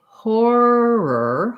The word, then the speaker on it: horror: you're trying to say horror horror it's a hard word to say and what you want to try to do is make sure that you have an or and then an er um what's probably hard